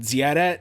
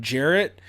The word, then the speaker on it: Jarrett: So, you know, if I knew someone who was Russian and they pronounced my name Ziaret instead of Jarrett, it's the same difference.